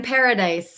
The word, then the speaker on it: Paradis: my name is Paradise it's uh it's pronounced just like the word Paradise there's just no e at the end so it it can